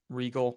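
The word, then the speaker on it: Riegel: Role, and there's like people track like Sam Regal. Did I pronounce Sam's name right? Like what he Regal.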